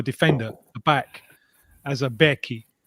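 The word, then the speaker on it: beque: But when I arrived here, you could still see people referring to a defender, a back as a Becky. It was spelled b e q u e.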